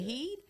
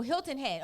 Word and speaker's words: Hilton Head: Carolina Savannah Georgia now I don't know if it's pronounced head or Head South Carolina is it heed h-e-a-d oh Hilton Head oh that's together South